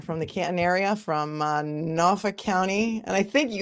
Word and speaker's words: Norfolk: And I think it's because the way I pronounce Norfolk, and that is the way to pronounce it, right?